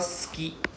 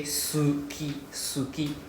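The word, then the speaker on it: 好き: I like but but we don't need to pronounce the s u sound like we don't say the u Right? We don't need to say suki suki, right?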